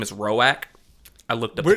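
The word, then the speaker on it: Roäc: His name is Rorowak. I looked up the pronunciation.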